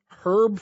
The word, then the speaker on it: Herb: But Herb is my grandfather, and it's pronounced Herb because there's an H in it.